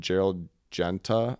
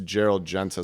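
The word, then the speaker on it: Gérald Genta: This is super popular in the 70s, and it was made popular by this guy named Gerald Genta, I believe is how you say his name.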